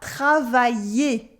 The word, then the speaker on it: travailler: So in travailler, to work, we have the y sound in the middle, travailler, and at the end an E sound with ER, so the R is silent, it is an E sound now.